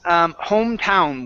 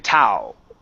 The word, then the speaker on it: hometown: First one is hometown with pronunciation. Okay, so it's hometown. Try that. Hometown. Get the N to sound, because right now you're saying Tao. I need an N.